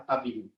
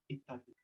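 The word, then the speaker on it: اتَّبِعُوا: Kadang karena hamzah wasalnya ada kepala suara dibacanya attabi'u atau utubi'u. Padahal bacanya ittabi'u.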